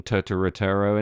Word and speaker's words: Turturro: It's got John Turturro in it.